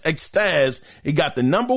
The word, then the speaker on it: Extas: So according to Extras, or his name is spelled EXTAS, Extaz, it got the number 1 STV.